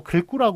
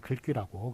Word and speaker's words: 글귀: 그래가지고 글귀는 또 글구라고 그러면 틀린 거예요. 글귀라고 그렇게 읽어야 되는데, 자, 아래 참고 보시면 귀글이란 두 마디가 한 덩이씩 되게 지은 글이라는 뜻의 문학 용어예요.